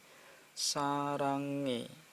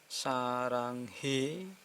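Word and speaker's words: 사랑해: berikutnya nih di Hai sarange hanyalah dianggap ini enggak Bung kesini sarange bukan Saranghae bukan Hai untuk suara e ye e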